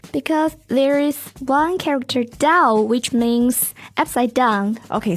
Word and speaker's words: 倒: The same pronunciation, Dao.